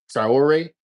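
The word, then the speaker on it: Traoré: But we got Trayore. Trior.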